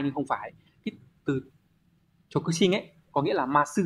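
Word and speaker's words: 直進: Số 2, từ này đọc là Chokushin.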